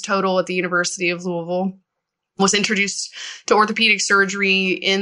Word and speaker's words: Louisville: I did my undergraduate at the University of Louisville in Louisville, Kentucky. That's Louisville, not Louisville.